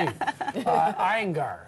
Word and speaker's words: Iyengar: Iyengar. Am I pronouncing that correctly?